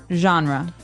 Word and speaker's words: genre: We say genre. Genre. Word. Genre. This kind of sounds French.